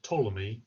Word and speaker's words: Ptolemy: interesting things in Egypt Ptolemy you don't pronounce the P on the front of Ptolemy not sure why it's there but it is in Egypt there's quite